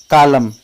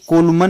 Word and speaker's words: column: COLUMN कॉलम, इसे कोलमन नहीं पढ़ेंगे क्योंकि N साइलेंट है।